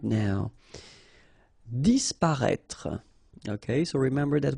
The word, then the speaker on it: disparaître: Disparaître, okay? So remember that we've got this accent circonflexe on the top of I, but then phonetically we don't pronounce it, so we get disparaître, disparaître.